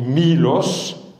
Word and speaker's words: Milos: Méos en grec voilà c'est mlos avec un état le état se prononce i donc en grec moderne on dit Milos nous l'avons francisé et